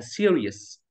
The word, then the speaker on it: serious: الاول يو تلفظت بحرف واحد سيريس اوكي سيريس سيريس بمعنى